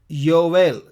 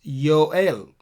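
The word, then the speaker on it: יואל: would be Hoshea hosea joel is Yael Yael there is Nova I'm sorry Jarrell joel is Yoel Amos is ammos ammos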